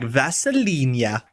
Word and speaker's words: Vasilinia: It's pronounced like Vaselinia.